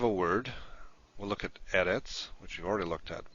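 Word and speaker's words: אֶרֶץ: Now if you have a word, we'll look at eretz, which we've already looked at more than once. Eretz is a word that has the stress on the first syllable, not at the end.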